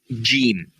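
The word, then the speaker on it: جيم: So let me try this called gim. G. So what is the sound that letter gives you? J sound.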